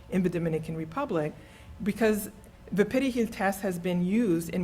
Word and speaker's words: perejil: they use the test perejil is because Haitians if they only speak Creole, there is no R in Creole, you would not naturally roll your R.